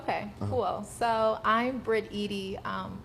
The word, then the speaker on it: Eady: So I'm Brit Eady. A lot of people never know how to pronounce it, but think like Eady's ice cream.